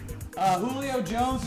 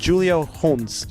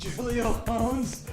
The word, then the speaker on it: Julio Jones: Julio Jones is kind of sliding. It's pronounced Julio Jones. Julio Jones.